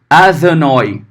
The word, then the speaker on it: Adonai: Como é que você leria Adonai, né? No hebraico bíblico, massorético? Adonai, tá? Adonai. Tá? Adonai. Seria essa forma, tá?